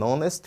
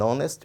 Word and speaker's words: honest: Se o H for silencioso, ou seja, ele não será pronunciado, eu uso também o artigo indefinido an. Martin is an honest boy. Martin is an honest boy.